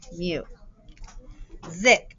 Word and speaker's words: music: to say its name mew zick now that is the voiced s it sounds like as